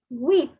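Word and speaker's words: huit: word for it is wheat the h is silent okay so the word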